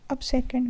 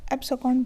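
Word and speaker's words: abscond: इसके बाद है अब सेकंड, मतलब भाग जाना, डिपार्ट सीक्रेटली। ठीक है, अब सेकंड, अब सेकंड मतलब हो गया एब्सेकॉन्ड बोलेंगे इसको, मैं गलत प्रोनाउंस कर रही थी।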